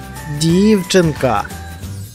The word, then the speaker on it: дівчинка: Дівчинка. Правильно, наголошений перший склад.